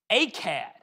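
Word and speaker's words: Akkad: if you're using it it's spelled differently a-c-c-a-d a-k-k-a-d phonically though it's the same sound another famous city he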